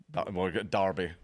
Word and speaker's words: Derbyshire: So how many other things have police officers Derbyshire. done? Yeah. Derbyshire? How do you say that? Derbyshire. Derbyshire. Derby.